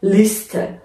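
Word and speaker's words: Liste: صدادار ای قرار گرفته، اینجا ما باید به صورت همون اس ساده تلفظش کنیم که اینجا میشه لیست.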